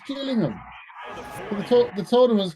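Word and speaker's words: Gillingham: golden it's not it's not Gilling them is it it's jilling him the the toour is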